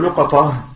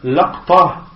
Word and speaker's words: لقطة: Et concernant le terme luqata, il y a 4 façons de le prononcer. Il y a luqata, il y a laqta, donc il y a luqata, laqta, luqata, afwan, luqata.